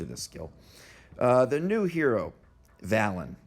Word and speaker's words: Svalinn: The new hero, Valon, with a silent S.